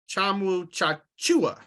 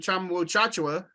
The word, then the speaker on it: Tchatchoua: tweet I did yeah so apparently it's Jonathan Wu chakua okay uh we've been calling him uchachua right all these years uh let's just call